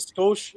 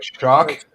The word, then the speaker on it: Schoch: Oh, are you pronouncing it Scotia? Shock. Shock? Yes.